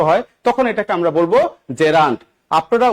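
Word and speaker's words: gerund: এই নাউনের সাথে দেখেনতো আইএনজি ফরমেট আছে তার মানে এটাকে আমরা কি বলবো জেরান্ট উচ্চারণ কি জেরান্ট নট জিরান্ট আপনারা ম্যাক্সিমাম এখানে ভুল করেন জিরা জিরা বলেন কোন জিরা টিরা এগুলি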